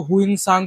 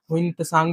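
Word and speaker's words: Xuanzang: और इसके बाद एक चाइनीज ट्रैवलर है जिसको हुइन सांग कहते हैं, हुइन त्सांग भी बोला जाता है, उसकी भी प्रोनाउंसिएशन अलग है, वो भी मैं बताऊंगा।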